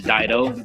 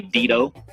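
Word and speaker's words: Dido: The name is Daido, but it should be Dedo.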